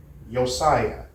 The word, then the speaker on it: Josiah: Yosiah. Well, in Nor in Norway and Sweden and other like European and Nordic countries, of course, they pronounce the J differently.